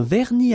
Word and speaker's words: vernis: Final S here not pronounced.